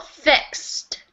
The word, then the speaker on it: fixed: Pronunciation is one syllable. Fixed.